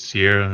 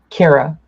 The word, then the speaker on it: Ciara: Is it Sierra or do you have like some other pronunciation? Cara. Cara. Cara.